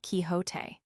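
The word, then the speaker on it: Quixote: misfortune to know that the gentleman's name is pronounced kiote when ignorance from out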